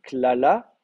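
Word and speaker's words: קללה: Euh, au niveau de la vocalisation, Un kamatz, là, sous le premier alors lamed. un kamet sous le premier lamed, hein, klala, ce qui n'est pas très surprenant puisqu'on est en syllabe ouverte.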